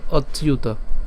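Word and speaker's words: অচ্যুত: এর মত হয় তাহলে অ এর সাথে চ্যুত উচ্চারণ করলে কেমন হবে অচিউত ঠিক আছে তাহলে আমি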